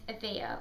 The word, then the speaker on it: Avia: My name is Avia, which is spelled A-V-I-A, and you say it as Avia, not Avia, not Avia. Loads of people always get it wrong.